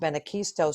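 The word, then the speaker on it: Benacquisto: scholarships and grants the benekisto that's pronounced benakisto scholarship program that is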